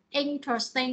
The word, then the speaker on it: interesting: interesting đúng không, interesting, thì cái từ interesting này nó cũng gì, nó có ba âm tiết ha và nó nhấn âm interesting. Đây các bạn ha. Nó có ba âm tiếng này. Âm thứ nhất là in này, thứ hai trust này, thứ ba là thing này, nhắn là một cái nhắn này ha.